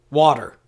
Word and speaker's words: Walter: Now, the Elizabethan pronunciation of the name Walter would have softened the L, in much the same